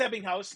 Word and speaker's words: Ebbinghaus: The Ebbinghaus forgetting curve. It's my favorite German. Yeah. Right? Yeah. No, I can't guarantee I pronounced that correctly. Who knows? No, it's Ebbinghaus. No, that's right. Okay. That's right.